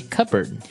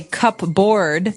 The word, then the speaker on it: cupboard: pronounced cupboard okay so even though it may seem like you should pronounce cup board the correct pronunciation is cupboard cupboard cupboard and a